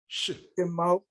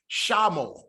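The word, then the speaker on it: שְׁמוֹ: beginning of a word, the Shiva is vocal. So when it's coming under that first syllable, we have here Shemo. Shemo. Yeah, yes, Iman. Yes, Shemo versus Shah. So if we wouldn't have had this here, it would be Shamo, Shamo.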